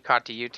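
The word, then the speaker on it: Kata Tjuta: And, I was out at Uluru and Katajuta out there. What's actually Katayuta is how you say it.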